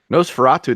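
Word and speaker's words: NOS4A2: a lot of people's Nosferatu the original movie is public domain it could be found on YouTube though yeah the show yeah and n OS for a to pronounce Nosferatu is the third novel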